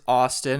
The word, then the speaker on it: ASTN: Okay, my next pick is Austin. It's spelled ASTN.